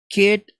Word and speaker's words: could: olha só, could not, você não pronuncia could com som de L, né? Você simplesmente fala could not, dessa forma, could not use Afghanistan,